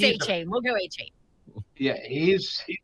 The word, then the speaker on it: Achane: We know it's A-Chain.